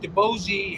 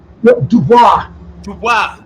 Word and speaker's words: Dubois: about maybe working with DeBozy. How do you pronounce his name? Dubois.